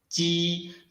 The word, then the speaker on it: ji: Try to produce ji by letting the air squeeze out between the surface of the tongue and the hard palate.